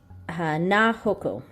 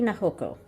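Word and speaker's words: 菜穂子: it down, and it is so Ue Hashi na hoko. Ue Hashi na hoko.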